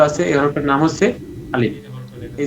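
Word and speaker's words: ألف: নাম কি আলিফ আলিফ এই আলিফ উচ্চারণের ক্ষেত্রে আমাদের অনেকেরই যে ভুলটা হয়ে থাকে তা হচ্ছে আমরা এটাকে আলিফ টান দিয়ে পড়ি আমরা যদি এটাকে টান দিয়ে পড়ি তাহলে দেখা যাবে যে আসলে আলিফের যে একটা উচ্চারণ আছে যে উচ্চারণটা করলে পড়াটা সুন্দর হবে ওইটা আমাদের থাকবে না তো এজন্য প্রথমে আমরা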